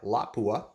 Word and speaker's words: Lapua: since 1930s it's a special bullet made by l'a kueh and yes that is the correct pronunciation how to say Lapua so anyways this bullet is the Lapua delta 46 there is a few variations at